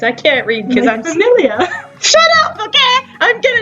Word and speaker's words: familia: can't read because I'm familiar. Shut up, okay? I'm gonna name it Familga because it sounds cooler. Familia? What the hell? Familia. It's Italian.